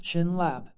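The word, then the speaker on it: བྱིན་རླབས: The Tibetan word for blessing bayan rolap pronounced chinlab can be broken into two parts.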